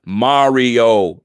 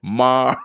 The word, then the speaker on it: Mario: Kenny G said, yo, Rico, it's Mario. Pronounce it with me. Mario, you stupid ass.